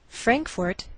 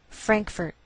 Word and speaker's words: Frankfort: Frankfort, Kentucky. Now some Americans may change the second syllable of the capital, and you may hear Frankfurt. Do you hear the difference?